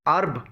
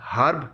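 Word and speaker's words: herb: ایچ ای آر بی کو ارب بولا جاتا ہے، ہرب نہیں بولا جاتا، البتہ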